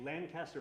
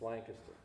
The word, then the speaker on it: Lancaster: my friend Sean Bradley Sean Bradley is a Lancaster B based sculptor wa I have I have to correct you it's Lancaster Lancaster did I pronounce it wrong again I